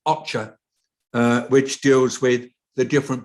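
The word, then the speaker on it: OCHA: of humanitarian affairs which is the acronym that's pronounced ocher which deals with the different parts of the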